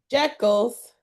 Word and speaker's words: Jekyll: Jekyll's or Jiggles? You know how to pronounce that? Jekyll's.